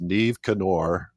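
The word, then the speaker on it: Niamh Cinn Óir: But the name of the boat is Neve Canor, which it's not spelled like that at all, but okay, that's how you pronounce it.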